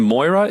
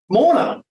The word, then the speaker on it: Morna: Who's Moira? Morna. Oh, Morna. I'm so pleased you mispronounced Morna's name. Everybody mispronounces it. Poor old Morna. She says, sorry, Morna. And put an M in front of it, and it's Morna.